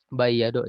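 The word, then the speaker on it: بيّض: Wa imma, ya, bayyado, ini bayyado, ya, dibacanya pakai tasdid wajan fa'ala.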